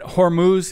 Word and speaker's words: Hormuz: up in the days ahead so did you pronounce it Hormuz is that right yes the straight of hus